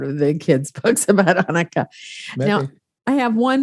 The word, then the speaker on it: Hanukkah: The problem with English is there is no way to spell or pronounce ha. Right. Ha. Yeah. So that's where in many places it became an H. So that it's just Hanukkah instead of Hanukkah. Well, it is Hanukkah. It's but because if you cannot pronounce the ha, then you will just remain with the ha.